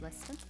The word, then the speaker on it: Leicester: yeah so this is red leicester please they pronounce brett red listen it is crumbly like you you'd say so